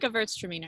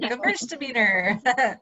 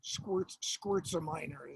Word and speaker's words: Gewürztraminer: Wait, the it's like Gewürztraminer. Gewürztraminer. Yeah. I have a collection of mispronunciations of Gewürztraminer. So Or yeah. some of them, yeah. Squirtzaminer is my favorite.